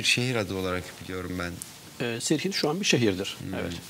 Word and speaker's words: Sirhind: Sirhind şu an bir şehirdir. Evet, anladım. Hindistan'da. Serhend diye de telaffuzu var.